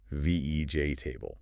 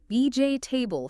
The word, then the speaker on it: vegetable: Because just like comfortable, the common pronunciation is more like vej table. VJ table.